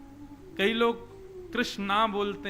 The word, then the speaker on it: कृष्ण: नहीं तो आप लोगों से पूछ लीजिए, कृष्ण नाम का शुद्ध उच्चारण नहीं कर पाते, कोई अनुस्वार बिंदी या कोई मात्रा अधिक लगा ही देते हैं। तो भगवान नाम क्या रखा गया? कृष्ण।